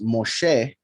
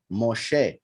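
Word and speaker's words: משה: the hay is not silent um for instance moshe ends with a hate his name is not mosh right shin hey moshe is not mosh um and in other examples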